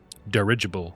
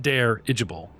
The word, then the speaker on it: dirigible: to fill the derable that's dirigible not deible just dirigible how do you say